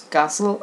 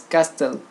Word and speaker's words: castle: these pronouns for example i used to pronounce castle as castell so if i hurt Cosmo I wouldn't know that it was referring to do a castle I was expecting to hear castell so it was like